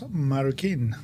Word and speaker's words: Marroquin: Today we have a very special guest, Juan Carlos Marukin.